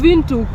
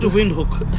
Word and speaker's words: Windhoek: W is a v the H is silent and the W is V yes it's called St